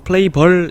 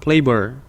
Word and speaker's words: flavor: 요거 발음 같은 경우는 flavor 이게 아니라 보와 어의 약간 중간 발음 flavor. 이런 발음으로 읽어주시는 게 가장 적합합니다. flavor.